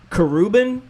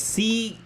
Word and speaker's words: Khruangbin: I think it's Kruban is how I say it. It's Khruangbin. I know it's a Korean word that I think it means airplane.